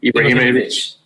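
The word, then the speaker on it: Ibrahimović: How do you pronounce his last name? Ibrahimovic.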